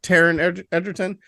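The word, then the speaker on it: Taron Egerton: how do you say his name Taryn Edgerton Taryn Edgerton uh solid man uh it's almost got to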